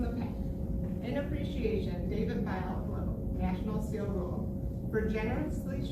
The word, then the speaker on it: Bialoglow: His last name is pronounced like biology.